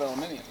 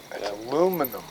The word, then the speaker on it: aluminium: same thing like Jack leg but it's called aluminium aluminum aluminium how you pronounce it you know where's that on the